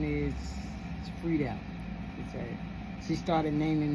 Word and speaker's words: Friedel: So my daughter that's dead today, her name is Tandra Friedel Jordan. And it's just like it sounds, Free and Del. Like Dell, like the computer Dell.